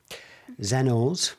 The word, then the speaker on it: Xeno's: You're a founder of XENO'S. Have I said it right? Yeah, perfect. XENO.